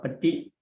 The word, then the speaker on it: paṭi: And so Paṭi, we have to pronounce Paṭi, and Nit become Nate.